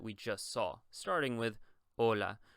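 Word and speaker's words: hola: just saw starting with Ola We already know that the H is going to be silent in Spanish we simply don't pronounce it so you would say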